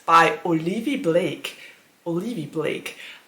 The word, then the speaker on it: Olivie Blake: Olivie Blake. I always pronounced it wrong because I always said Olivia Blake, but it's actually Olivie Blake.